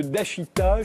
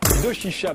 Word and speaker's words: Doshisha: attaché à l'université de Dashita, je l'ai bien prononcé. Doshisha, pardon, à Kyoto, au Japon.